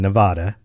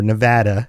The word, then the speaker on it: Nevada: Well, if you've been to Las Vegas in Nevada, or Nevada, as I've been told is the proper way to say it by people who live there.